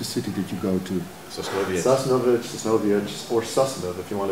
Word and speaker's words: Sosnowiec: You first you're in how do I pronounce the name of the city that you go to? Sosnowiec, or Sosnow, if you want to be real Yiddish about it.